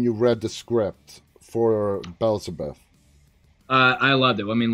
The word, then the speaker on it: Belzebuth: How do you pronounce that? Belzebuth.